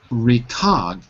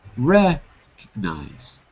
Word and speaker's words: recognize: two words to repeat recognize recognize yeah not recog but recognize recognize recognize that's it and